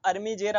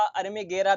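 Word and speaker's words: armigera: Per borer होता है इसका जलॉजिकल नेम हेलिकोबेरपा अर्मीजेरा होता है। हिंदी में कुछ लोग इसे हेलिकोबेरपा अर्मीगरा भी प्रोनाउंस कर देते हैं। यानी कि हेलिकोबेरपा अर्मीगरा भी बोल देते हैं।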